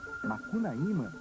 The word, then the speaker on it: Makunaima: é a nossa região é assim que se pronuncia Esta palavra do dialeto aruna makunaima é como dizemos no sul do país duas pronúncias diferentes para um herói de muitas Faces os índios dizem que